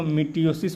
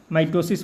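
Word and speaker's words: mitosis: समसूत्री विभाजन को मिटियोसिस बोलते हैं, माइटोसिस बोलिए चाहे मिटियोसिस। प्रोनाउंसिएशन आप जैसे कर लीजिए।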